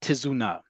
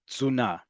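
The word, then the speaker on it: תזונה: And this word is pronounced, listen very carefully, it's a hard word to say, zuna. The t and the z basically become one sound.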